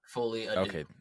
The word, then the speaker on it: Folie à Deux: it's Folie Adieu.